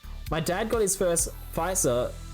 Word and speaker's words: Pfizer: And it's pronounced Pfizer, apparently.